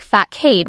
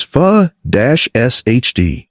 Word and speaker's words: façade: Another French word that looks like facade when you read it. But the correct pronunciation is fa-sh-d. The C makes an S sound and the stress is on the 2nd syllable. Trick.